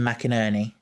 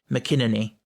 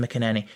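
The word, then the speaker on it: McInnerny: His name is Tim McInerney. And can I just say, in terms of the pronunciation, I have on good authority that is how it's pronounced, even though it looks like it should be McInerney.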